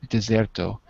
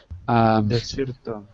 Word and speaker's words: desierto: Deserto. Desierto.